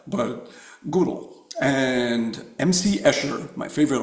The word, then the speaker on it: Gödel: Probably gonna pronounce his name wrong. Kurt, is it Gödel? I always said Godel, but Gödel.